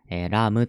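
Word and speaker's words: 사람: れています単純に発音すればラプラスなんで run run run ですよねですがラームとなっています米すらなぜかっていうとこの資格こののパッチムのこの資格ののパッチもは口を閉じてさんまのれさん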